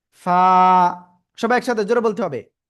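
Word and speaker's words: ف: কিভাবে উচ্চারণ করতে হয় নিচের ঠোটের পেট উপরের দুই দাতের আগায় লাগান লাগান লাগান লাগিয়ে হালকা বাতাস বের করেন এভাবে দেখেন বাতাস বের হচ্ছে কিনা বাতাস যদি বের হয় ওই অবস্থায় আপনাকে জাস্ট এক আলিফ টেনে উচ্চারণ করতে হবে ফা সবাই একসাথে জোরে বলতে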